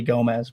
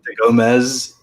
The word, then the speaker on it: Gomes: to get in my name is actually gomez but it's spelled go so it's easier to say that without people who end up putting a z and it's uh gomez yeah and then it's